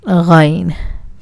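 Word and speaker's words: غین: Ghain. This is a difficult letter, I suppose, because there is no alternate letter in English. This sound is very common in French, as if you're gargling.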